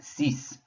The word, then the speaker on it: six: always gets pronounced and then we have dies rhymes with our word for six so we have diese and then we have cease for six so when we review so far